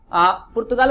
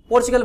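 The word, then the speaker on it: Portugal: का नाम है, कुछ लोग इसको ना पुर्तगाल बोलते हैं, कुछ लोग क्या बोलते हैं इसको पोर्चुगल बोलते हैं, क्या बोलते हैं पोर्चुगल, दोनों ही ठीक है, ठीक है, मतलब बोलने का तरीका है, प्रोनाउंसिएशन का तरीका, कुछ लोग क्या करते हैं पोर्चुगल बोलते हैं और कुछ लोग पुर्तगाल बोलते हैं, ठीक है क्लियर।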